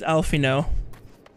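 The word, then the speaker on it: Alphinaud: her name is alize the boy's name is alfino but it's spelled alfie nod just look up twins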